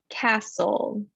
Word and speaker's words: castle: o sound cast soul there's no t in that word castle whistle in the s